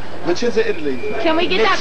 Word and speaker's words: Vicenza: This is, spell it again, who's really responsible originally? Vicenza. Vicenza. Vicenza, Italy.